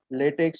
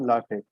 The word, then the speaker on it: LaTeX: how to pronounce this so basically according to our spelling what we normally do is latex or latex but it's not the correct pronunciation so first of all we should learn that how to pronounce this thing you should speak latex or latte okay so as highlighted